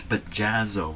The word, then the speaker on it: Bajazzo: right bajer yeah bajro bajazzo it's bajazzo with two Zeds here that's what it is